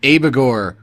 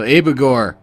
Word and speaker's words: Abigor: we're going to do something on the band abagor which is how you pronounce it or at least that's how the band pronounced it when they said it once on this one album so abegore it's like the name of a demon or